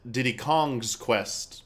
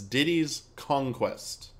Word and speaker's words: Diddy's Kong Quest: Country 2 did's Conquest probably one of the most mispronounced titles I'm very guilty of it I've called it Diddy Kong's Quest but that's not correct it's Diddy's Conquest so let's uh let's